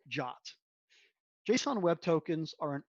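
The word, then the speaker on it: JWT: or one answer is json web tokens pronounced jot json web tokens are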